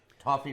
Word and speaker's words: toffee: Toffee rhymes with coffee.